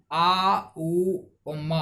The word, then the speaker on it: ओम: तो इस सिर के शीर्ष पर स्थित होता है, और इसका जो बीज मंत्र होता है ये आ उ मा होता है। आउम आउम आउम इसका बीज मंत्र होता है।